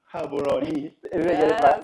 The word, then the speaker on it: Gaborone: know how to pronounce it how do you pronounce it again sorry habaroni habaroni Okay, thank you.